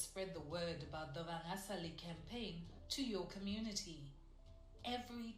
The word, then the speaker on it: Vangasali: I've been correcting to say, let's say it properly, Vangasali.